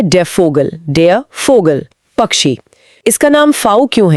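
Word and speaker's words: Vogel: German में वी का उच्चारण व नहीं बल्कि फ यानी अंग्रेजी के एफ जैसा होता है।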